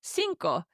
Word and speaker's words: cinco: And number five is cinco. C i n o. Co. And it's like cinco de Mayo.